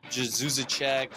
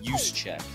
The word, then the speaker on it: Juszczyk: I've literally heard everything under the sun, like Juszczyk, Juszczyk. It's pronounced Juszczyk, like you use a check.